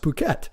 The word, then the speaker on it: Phuket: I think it's actually pronounced Phuket.